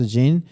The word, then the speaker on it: XYN: Yeah, so last CES 2025 at CES, we announced XYN, pronounced XYN, a suite of Sony solutions that support spatial contemplations.